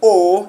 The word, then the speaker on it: os: when you are reading you don't pronounce the last consonant. So that is why we don't say os, we say o.